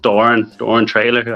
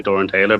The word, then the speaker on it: Traylor: We had a rookie come up from Watford called Doran Traylor. I always get his name wrong and say Doran Taylor, but he's not very happy about it.